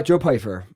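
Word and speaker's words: Joe Pyfer: Uh Joe Pyer.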